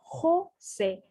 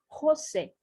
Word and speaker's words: José: Olha como eu pronuncio o J. José. Ha, re, ri, ro, ru. José.